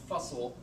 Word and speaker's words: Fussell: And you know that his name rhymes with, it sounds like Fussell because his students made a poem and rhymed his name with tussle. So Fussell must be how it's pronounced.